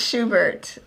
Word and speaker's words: Schuberth: I don't know if I'm saying it right. Marissa doesn't think it's Schuberth. I think it's Schuberth. That sounds like ice cream. No, it sounds like the composer.